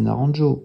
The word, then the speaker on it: Naranjo: Un grand auteur connu en Occident, c'est Naranjo, voilà, je le prononce à la française, qui a déposé des éléments de la psychiatrie, de la psychanalyse, et bien d'autres choses dans cette figure.